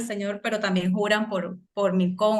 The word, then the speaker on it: Milcom: pero también juran por Milcón o Milcom, no sé cómo Sí, se pronuncia. Milcom, sí, pero no tiene tilde al final.